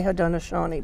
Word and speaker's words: Haudenosaunee: But we're also trying to get people to say Haudenosaunee because that's the correct name in that's in Mohawk. Each nation pronounces it a little differently, but Iroquois, a lot